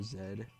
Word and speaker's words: Zed: Or Zed. I could be Canadian. Or, whatever. Also completely wrong, and it's not Canadians who pronounce it Zed. I know the British do.